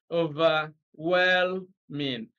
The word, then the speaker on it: overwhelming: syllable stress question 36 the giving word is overwhelming then you see a is distress is on the first syllable overwhelming big stresses on the second syllable overwhelming or something like that see stress is on the third syllable over well man this stress is on the last level the correct option is C over well mean now even with your